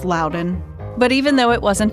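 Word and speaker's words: Loudoun: It's also one of those counties people say wrong all the time. Luden. It's Lden.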